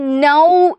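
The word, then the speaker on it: नौ: ആരാണ് ഒൻപതാണല്ലേ ഒമ്പതിനെ നമ്മൾ നൗ എന്നാണ് പറയുന്നത് ന ഇട്ടിട്ട് അതിന്റെ കൂടെ എന്ത് ഇട്ടു കൊടുത്തു ഔ എന്ന് പറയുന്ന ചിഹ്നം ഇട്ടു കൊടുക്കുകയാണ് അതിനെ നമ്മൾ എന്ത് പറയും നൗ എന്ന് പറയുന്നു അല്ലേ എന്താണ് നൗ എന്ന്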